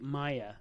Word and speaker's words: Maija: Haren and the walrus her name is pronounced like Maya of course she spells it differently cuz you know she